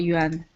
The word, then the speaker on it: yuan: Yeah, it is called yuan. So if I'm going to spell that, would that be Y-U-A-N?